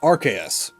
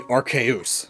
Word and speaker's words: Arceus: And it's these root words that make my preferred pronunciation Arceus. Even though if I was being 100% accurate to the root words, it would be Arceus. But my preferred pronunciation balances that out with what the anime has said.